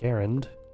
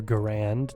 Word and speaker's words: Garand: Oh, we gotta grab an M1 Garand, or Garand, depending on how you want to pronounce it and where you grew up.